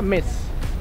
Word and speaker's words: Metz: alcaldía de metz bueno se pronuncia meses no se pronuncia metes aunque muchos empresas incluso